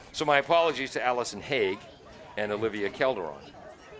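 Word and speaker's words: Haigh: then number 17 alison hague you do pronounce the g i remember years ago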